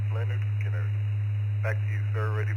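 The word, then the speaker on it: Lynyrd Skynyrd: I'd say the first album, if I remember correctly, would be Leonard Skinner, pronounced Leonard Skinner.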